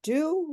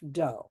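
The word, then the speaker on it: d'eau: And one of the things I do to save money is order anaf do. It's the word carff. D is spelled d apostrophe e au, although it's pronounced like o h.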